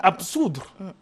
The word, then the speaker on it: absoudre: On dit absoudre. On ne prononce pas la syllabe B.